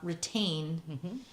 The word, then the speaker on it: Retayne: One of them is called Retain, and it's we'll put it up on the we'll put a link on the screen. Yeah, and a link to it. It's spelled Retayne, and it helps to catch the dye.